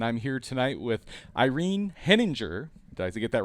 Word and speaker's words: Henninger: large universe and I'm here tonight with Irene heninger I get that right this time Irene you